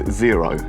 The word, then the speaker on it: Xero: So app number 1 is Xero, spelled with an X, very weird. Spelled with an X, Xero.